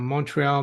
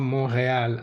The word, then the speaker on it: Montreal: seen it uh rqua Montreal mreal are both acceptable pronunciations we're a bilingual bilingual